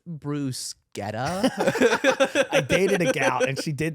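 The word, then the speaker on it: bruschetta: was actually spot on Boca de ciao it's pronounced Bruce Guetta a gout and she did that to me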